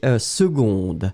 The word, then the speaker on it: seconde: et puis après c'était seconde seconde oui c'est très très bien on prononce gu g gu mais on écrit que hein secondde mais en fait on le prononce seconde et seconde doit être